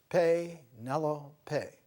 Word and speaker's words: Penelope: And the way to pronounce it, Penelope.